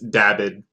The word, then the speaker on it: Dabbid: Is it Dabbid or Dabeed? It's Dabbid.